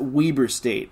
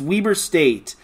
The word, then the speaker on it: Weber State: altogether against we Weber Larry B pronounced it Weber State it's Weber State on Saturday at calpal